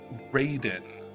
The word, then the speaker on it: Raiden: Raiden. Okay. Is how it's spelled. Ryden is how it's how it's read, but Ryden is how it's spelled.